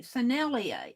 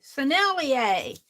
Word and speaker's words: Sennelier: thank you Ali K San L son Ellie sennelier sennelier Ali K teaches me how to pronounce these hard words sennelier and chameleon I